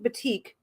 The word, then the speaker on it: batik: I used to hear it called batik or batik. It's actually pronounced batik, which I didn't know, but now I do, so I say it properly.